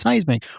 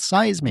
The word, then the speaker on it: Cysmic: So yeah, it's Seismic. We're here to talk about Seismic. We're here to talk about Seismic. Well, what it's spelled Cysmic.